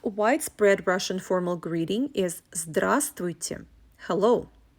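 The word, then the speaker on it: здравствуйте: russian formal greeting is drasti hello notice that the fifth letter the consonant vo is silent when you pronounce this word also i will mention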